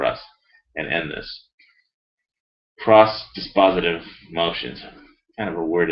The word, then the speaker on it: dispositive: this dispatch damn lawyers dis positive dispositive there it is dis positive that's a legal word